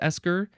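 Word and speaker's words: eiscir: Maybe it's also pronounced esker. It's spelled E-I-S-C-I-R.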